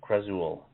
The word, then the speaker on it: Khrazul: month, called Pendulum of Krazul. Krazul is spelled Khrazul.